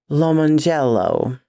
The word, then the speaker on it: Lomongello: Dude was named Lemon Jello, but crammed together as one word with the emphasis on the first O, as in lemons, and the J switched to a G.